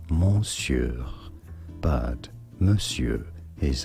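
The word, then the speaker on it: monsieur: But mure is how it is said.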